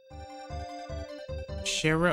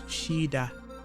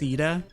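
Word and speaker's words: Shiida: Sher or Shira, it's Shida. There's a D in it. Yeah. Cheetah. Technically, it's pronounced CEDA, I guess, as well.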